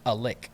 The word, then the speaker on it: Alex: It's not It's not a native town name, but it's spelled like Alex, but it's pronounced Alick.